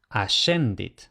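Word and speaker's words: ascendit: Pero otra vez, cuando le sigue e i y a e o que es e, entonces se va a pronunciar como sh, por ejemplo, ashendit.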